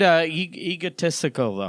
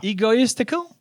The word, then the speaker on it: egotistical: do you say it I said egoistical now it's egotistical egotistical like mystical just statistical testicle yeah